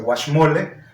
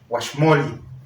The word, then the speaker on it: guaxmoli: Bueno, entonces hoy le decimos el guaxmole, pero la palabra original es el guaxmoli. Bueno, ya saben que se acentúan en la penúltima sílaba.